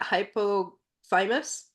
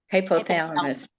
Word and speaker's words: hypothalamus: the one up front hypo thymus correct hypothalamus yamus okay and then you